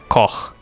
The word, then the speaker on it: Koch: Well, it's a German-Australian company, so Koch would be the correct pronunciation.